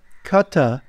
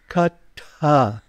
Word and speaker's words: Kaṭha: very Kata upanishad foreign you have to pronounce the T properly it's not Kata it's Kata upanishad so uh topani